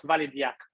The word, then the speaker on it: Validiac: today i'm going to introduce validate which we pronounce valid yak validiac is an open